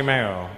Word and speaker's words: Mayo: Like mayonnaise? But just without the nays. It's County Mayo.